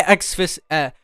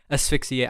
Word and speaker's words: asphyxiate: Did I say exfixiate wrong here? Xfixiate. Asphyxiate. I just said it wrong, but you can tell.